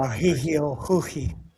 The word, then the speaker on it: Mauricio Ruffy: Tyler, for your awareness, Brazil, or I guess Portuguese, the R is pronounced as an H. So it's Brazil. Mahihio Huhi.